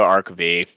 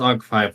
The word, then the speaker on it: Arc V: Arc V. Never mind. That's right. And he is typing now. I think it is pronounced Arc 5, though. It is Arc 5.